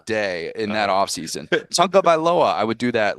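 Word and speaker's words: Tagovailoa: Yeah, once you realize, like Tua very early in his starting said you've got to think of like the tongue as the first syllable, and then once you figured that out, you're like, oh, it's actually pretty easy.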